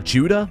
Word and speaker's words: Tudor: Castle what am I like a Tudor as in like Henry VII not how Americans say the word tutor ooh stench ooh stench